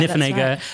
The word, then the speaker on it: Niffenegger: How do you pronounce that? Yeah, Niffenegger, right.